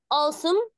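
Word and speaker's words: awesome: العاميه كده تبقى قاصم اسمها ايه يا اولاد الدبليو ما بتتنطقش عاصم برافو كلمه كول برضو قلنا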